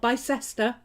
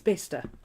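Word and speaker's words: Bicester: but it's worcester okay it's not by sester it's bista it's not glaucester it's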